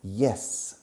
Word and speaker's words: yes: Pero fijaros en la pronunciación. Yes. No se dice yes. Yes. Yes. Entrando como si fuera una I latina. Como en la palabra hielo en castellano. Hielo. Yes.